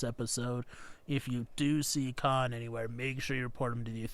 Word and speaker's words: Khaan: that they added an extra A in Khaan. See? Yeah, so you're exactly. shouting it a little. Khaan! See, that's like 4 or 5 A's. It's like Khaan.